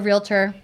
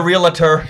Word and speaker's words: realtor: But I am a realtor. She's a realtor. I am a realtor. Yes, I'm a realtor. All the syllables in it.